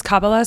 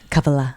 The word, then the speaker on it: Kabbalah: And is Cababala something that you did I just say it right? Kabala.